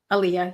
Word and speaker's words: Aaliyah: Aaliyah, yeah.